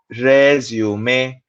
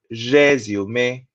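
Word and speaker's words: résumé: Also remember the pronunciation, resume. Don't forget those little dundies on top of the E which give the A sound, resume.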